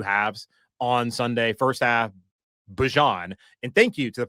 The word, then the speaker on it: Bijan: saying Bijan, and I've always felt and known it to be Bijan, maybe it's Bijan. Then someone sent me a clip from, I guess, training camp, NFL Network, all that, and Bijan Robinson was saying my name is Bijan.